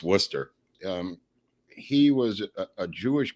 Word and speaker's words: Worcester: called W it's it's spelled Wester but it's pronounced Worcester um he was a Jewish kid who wore